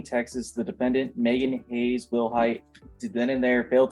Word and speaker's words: Wilhight: And are you Megan Wilhight? Yes, ma'am. Am I pronouncing your last name correctly? Yes, ma'am. Will height?